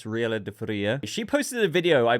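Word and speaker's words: Gabriela de Faría: I am probably butchered that name, but I don't think you pronounce it as Gabrielle. It's Riela de Faria.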